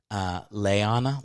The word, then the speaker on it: Liana: I won't say her last name, but she's like, her name is spelled Liana. And then she's like, it's actually pronounced Leana, like Leanna Hammock.